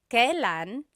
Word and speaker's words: kailan: And then just a pronunciation tip, it's pronounced kailan, kailan, but you will often hear it pronounced kailan, kailan. Kailan ang kasal?